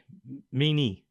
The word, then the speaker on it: Meine: Meanie. Yeah. That's the last name you want. Yeah. It's it's pronounced in like actually it's me. Yeah, something. The A. The E sounds like an A at the end.